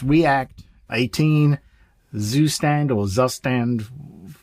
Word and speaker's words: Zustand: never heard of and if I pronounce this wrong I am sure somebody will correct me Zustand or Zustand Z U S T A N D for state management.